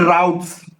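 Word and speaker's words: routes: अलग हो जाता है, उसको रूट बोलते हैं। रूट्स एंड राउट्स both spelling सही है, बट प्रोनाउंसिएशन वो कंट्री टू कंट्री वेरी करता है।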